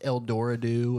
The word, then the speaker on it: El Dorado: El Dorado. El Dorado. Well, L I've heard it pronounced Eld Doradoo as well.